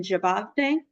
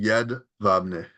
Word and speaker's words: Jedwabne: which is kind of a spin on what happened in Jabavne, if I'm pronouncing that correctly. It's actually Jedwabne, Gedvadne? Wabne with a B.